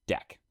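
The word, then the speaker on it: deque: For this, it is named a D EQ U which is pronounced deck.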